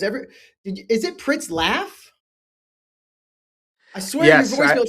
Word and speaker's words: Pritzlaff: I forever I did I always thought it was Pritsloff. Everybody I talked to always says Pritsloff, so it's it's like laugh, ha ha ha. Pritslaff. And that's actually how it's spelled.